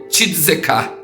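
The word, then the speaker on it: צדק: A palavra esmola no hebraico, ela se pronuncia tzedekah.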